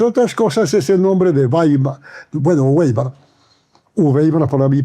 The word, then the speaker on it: Wbeimar: Y entonces, él nunca me dice Weimar, me dice Weimar. Weimar. Porque fonéticamente, me dice él, es un adefesio, ¿no? decir Weimar. Se pronuncia Weimar.